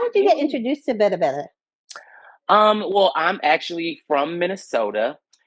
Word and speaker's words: Berbere: So we are using an East African, more so Ethiopian spice called Berbere. Mm-hmm. Some people not pronounce it Berbere spice, but it's called Berbere.